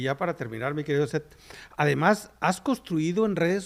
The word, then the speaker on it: Seth: sociales bueno en redes sociales yo estoy como set mi nombre se escribe s e t h set sed así estoy en